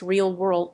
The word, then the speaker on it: RLWRLD: A hotel chain is one of many companies South Korean artificial intelligence startup RLWRLD pronounced realw world is working with to